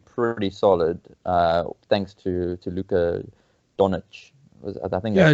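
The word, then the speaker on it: Dončić: And I see the Mavericks have been doing pretty solid, thanks to Luka Doncic. I think Yeah, that's how you pronounce it.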